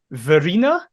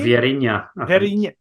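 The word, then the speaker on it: Vieirinha: So, POAK forward, and I've never known how to pronounce his name, despite knowing him for about 10 years. POAK forward, Verina. Is that how you say his name? Vierinha.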